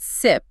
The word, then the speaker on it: CYP: The CYP genes, we pronounce it SIP, are responsible for producing cytochrome P450 enzymes.